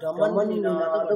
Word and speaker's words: डमन्निनाद: চতুর্থ যে ওই শব্দটা সেখানে ড নেই, নকার আছে, ঠিক আছে? ওইটা একটু খেয়াল করতে হবে প্রত্যেককে। ডমট ডমট ডমট ডমন নিনাদ বর্তমার্পয়ম, ঠিক আছে?